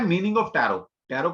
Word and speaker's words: Tarot: पहली बात तो इसकी स्पेलिंग होती है TAROT, टैरेट। तो इसको पहली बात तो टैरेट नहीं बोला था, इसको टैरो बोला था, टी यहां पर साइलेंट।